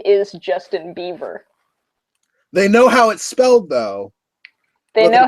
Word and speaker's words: Bieber: They legit think that his name is Justin Bieber. They know how it's spelled, though. They know how it's spelled. But they just think that it's supposed to be pronounced Beaver.